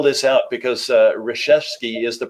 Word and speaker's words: Resheske: the mentorship I'm gonna spell this out because Reshevsky is the pronunciation but it's all L you Kas re